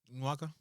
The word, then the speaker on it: Nwaka: Yeah, Nwaka, did I say it right? Yeah, I actually like the way you pronounce it.